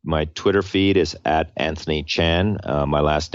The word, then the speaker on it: Tjan: them yeah so my Twitter feed is Anthony Chan uh my last name is pronounced chn but spelled t like Tom J A an